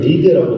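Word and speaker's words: Wrede: 여기서 이제 대표적인 학자는 이제 브레데, 이제 영어 발음으로는 리드라고 불리는 학자, 그리고 슈바이처, 불투난 뭐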